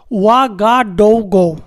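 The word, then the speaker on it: Ouagadougou: इसका कैपिटल है OUA, वा, GA, गा, DOU, डो, GOU, गो, वा, गा, डो, गो। ऐसे करके आप लोग स्पेलिंग करिएगा, OUA, GA, DOU, GOU।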